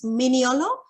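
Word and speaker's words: Mignolo: theory such as minion so that's how we pronounce their names miniolo um and kihanu and i've i really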